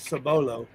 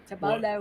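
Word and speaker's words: Cibolo: lived in cbolo Texas I actually pronounce it sabolo sabolo when I lived in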